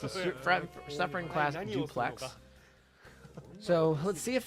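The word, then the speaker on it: Dupleix: welcome back I guess technically it's French so we won't pronounce the X at the end but um all right so we have the French Heavy Cruiser from 1930 do Plex it's a su class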